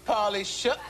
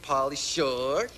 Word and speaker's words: Pauly Shore: Third lady said, I got a date with Pauly Shook. Uh-oh. No, come on. Say it right. Uh-oh. Got a date with Pauly Shore.